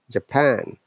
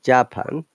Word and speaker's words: Japan: For example, teacher, Japan, not Japan. He says stressing the second part.